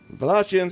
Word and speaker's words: Wallachians: Wallachians, yay!